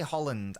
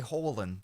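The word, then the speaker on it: Haaland: I don't say Holland. I say Holland. There's no D. Norwegian pronunciation.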